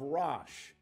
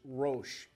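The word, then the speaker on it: Rosh: highlight the prince of rash some would pronounce that and say that the proper pronunciation is RO uh I'm not going to take points off your final exam either way the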